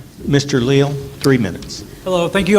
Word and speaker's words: Leal: Leal three minutes hello thank you all for being here my name is Leal some pronounce it Leal so whatever you decide I'm good with it good to see a